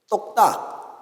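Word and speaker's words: 똑딱: Do you know in Korean how tick-tock is pronounced? Tok-tak. We call that tok-tak.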